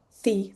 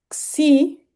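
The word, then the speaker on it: ξ: La si se pronuncia como nuestra x normal, pero vale memorizarse también estos caracteres.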